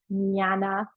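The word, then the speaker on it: jnana: It's called nana mudra. Nana is spelled JN a na. So it's a very like a gurgly silent J sound. Nyana mudra.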